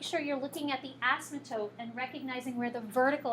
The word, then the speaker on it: asymptote: So it would be the x values from the vertical asymptote that you want to pick. Sam? Wait, you say, how do you say that word? Asymptote.